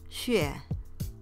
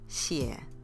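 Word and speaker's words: 血: Bak Hu Beng, Bai Xue Bing. Notice there's three different pinyin versions for the Mando way of saying leukemia, where the blood part can be heard as xue, xue, xie.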